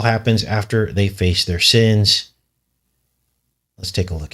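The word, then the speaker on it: Seine: after they confess their sins to one another that they're actually able to escape escape and when they emerge they're on the sin river is how essentially it's pronounced this I believe is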